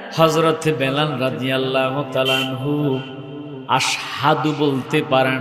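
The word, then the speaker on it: أشهد: মুহাম্মাদুর রাসূলুল্লাহ সাল্লাল্লাহু আলাইহি ওয়াসাল্লাম মসজিদে নববীর মধ্যে কেমন মুয়াজ্জিন রেখেছে, যিনি আশহাদু শুদ্ধ উচ্চারণটা করতে পারে না, আসাদু বলে, লফজটা ভুল বলে।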